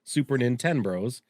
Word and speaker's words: Super Nin10Bros: I hope the only thing is I hope you can pronounce it and you get what I'm going for. Super Nintendo, Super Nin10Bros.